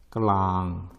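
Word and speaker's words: กลาง: 까, 클랑, 완. 그래서 발음은 까, 클랑, 완. 특히 조심하셔야죠. 많은 태국인들이 이 럴링 발음을 잘 안 합니다. 그래서 우리 귀에는 이 클랑이란 단어가 깡으로 들립니다.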